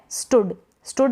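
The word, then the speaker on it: stood: स्टूड तो यहां पर यह जो डबल ओ ए रहा है इसको हम शॉर्ट प्रोनाउंस करें इसका जो प्रनंसीएशन होता है वो शॉट हो रहा है छोटा हो रहा है छोटे यू के रूप में हो रहा है अब यहां पर यह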